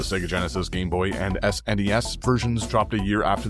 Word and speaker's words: SNES: The Sega Genesis, Game Boy, and SNES versions dropped a year after this 8-bit Nintendo original. And yes, I said Snes, not SNS.